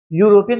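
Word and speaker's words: European: अगर हम कहे यूरोपियन यूरोपियन जब लिखते हैं तो ई यू आर ओ पी ई ए एन E letter है वावेल लिखा जरूर ई है लेकिन पढ़ते हैं उसको या है यू तो यूरोपियन या पढ़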